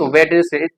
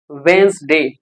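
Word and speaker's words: Wednesday: वेडनेसडे कहते हैं कि आज वेडनेसडे है, नो, इट्स नॉट वेडनेसडे, इट्स वेंसडे, वेंसडे, handsome, like that.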